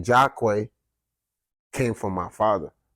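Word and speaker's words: Jahquoi: it with his last name oh okay j-a-h-q-u-o-i jock way so the nightclub was Jacqueline nightclub so very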